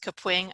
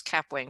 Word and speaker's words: Kapwing: going to talk today about kapwing yes it's pronounced kapwing i thought it was cap wing for so long it's kapwing so we have